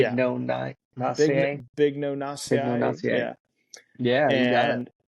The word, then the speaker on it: Bignoniaceae: I'll try to pronounce this. So it's Bignoniaceae. Big Yeah, no Nacier. Big no Bignoniaceae.